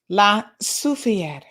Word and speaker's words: Soufrière: How to pronounce it is French.